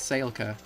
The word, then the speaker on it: Saelka: But she has a girlfriend from that clan named Saelka. It's Saelka. It's spelled like spelled S-A-E-L-K-A.